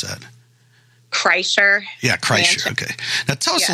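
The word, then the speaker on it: Kreischer: had mentioned is it chrysler how do you pronounce that chrysler yeah chrysler okay now tell us a little bit about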